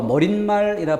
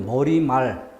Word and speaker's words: 머리말: 머리와 말이 만날 때 니은을 넣어 머릿말이라 발음하면 틀리고요. 머리말, 인산말 틀리고 인사말이라고 발음하는 것이 옳다라는 거죠.